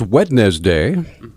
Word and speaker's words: Wednesday: a moment this is talk back and it's wetness day I don't know why can't they just if it's if it's pronounced Wednesday why do they have to spell